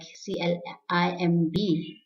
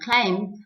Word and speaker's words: climb: So what you need to remember is whenever you find the letter B at the end of a word, just after M, please keep in mind that B is silent. So the word like C-L-I-M-B, it's not climb, but climb. N-U-M-B, numb. So climb, numb.